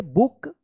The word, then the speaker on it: book: जब double O रहता है तो इसका उच्चारण ऊ होता है, तो BOOK, बुक।